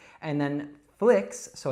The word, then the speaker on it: flix: And then flicks, so it's not fleeks or flikes, it's flicks.